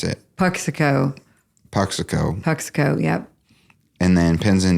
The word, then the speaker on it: Puxico: And then solo career, you've put out a record in 2017, and I don't know how to pronounce it. Puxico, yep.